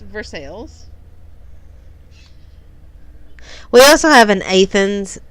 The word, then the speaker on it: Versailles: Kentucky called Versailles they dispelled Versailles it is pronounced Versailles we also have an Athens instead of an